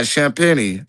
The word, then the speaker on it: Champagnie: Yeah, Champagnie, you know.